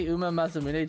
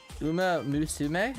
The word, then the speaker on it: Uma Musume: Uma musume. Oh, it's mus.